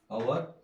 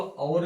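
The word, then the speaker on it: our: आवर, आवर, हमारा। तो इसको और भी बोलते हैं, आमतौर पे आवर भी बोलते हैं। तो इस ओ का जो मैंने प्रोनाउंसिएशन पहले बताया था, आ भी है और अ भी है।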